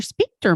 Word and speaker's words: sphincter: a good way to help you relax your sphincter muscles before the actual fun begins.